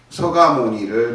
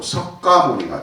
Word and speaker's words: 석가모니: 이름을 바꾸는 게 아니라 발음만 그렇게 하면 서가모니, 우리는 정근할 때도 서가모니불 서가모니불 이렇게 해야 돼.